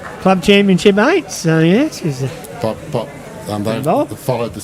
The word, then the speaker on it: Shale: well it's actual pronunciation there's a town over in France called sh so that's actually how it should be pronounced but my mother's just pronounced when she's found it in a magazine as Shale and that's what it was